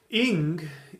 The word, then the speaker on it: Ing: room which is ingage ing is the protog Germanic pronunciation for the um fire God and this is not